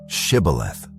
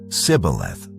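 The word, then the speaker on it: shibboleth: If he replied, "No," they said, "All right, say shibth." If he said cibth because he could not pronounce the word correctly, they seized him and killed him at the fords of the Jordan.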